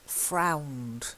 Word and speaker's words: frowned: And then frowned. It's long ow.